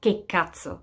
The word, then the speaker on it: che cazzo: You might as well just pronounce it right, and it's che cazzo. That's how you would pronounce it.